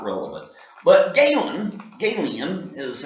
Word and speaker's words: Galen: But Galen is how you pronounce his name, was a Greek physician that